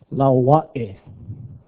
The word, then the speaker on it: Laua'e: It's all vowels, yeah? R, A, E, O, U, Lau, R, A, Laua'e.